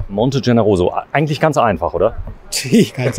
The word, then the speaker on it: Monte Generoso: Okay, und wenn du mir nochmal genau sagst, wie das ausgesprochen wird, Monte? Monte Generoso. Monte Generoso, eigentlich ganz einfach, oder?